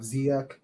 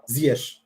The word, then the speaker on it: Ziyech: So players at 35, the ones I can think of, you have Kulusevski, you have Ziyech, you have Ziyech, for those who want to pronounce it the right way.